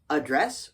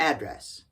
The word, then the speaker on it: address: this word is pronounced address or address what yeah I know it can be pronounced both ways for a noun and for a verb what they're the same